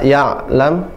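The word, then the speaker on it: يعلم: Kalau ya'lam hamzah suara terputus. Tapi kalau ain ya'lam suaranya pertengahan. Jadi ditekan ya'lam, tidak ya'lam tapi ya'lam.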